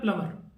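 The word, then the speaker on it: plumber: चीज साइलेंट होती है जैसे प्लंबर में वीजा आयरलैंड होता है तो वो होता है प्लंबर तो जब आप कंटिन्यू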